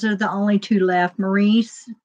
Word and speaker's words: Maurice: the only two left Maurice was Robin's twin or Morris I guess is how they pronounced it he he died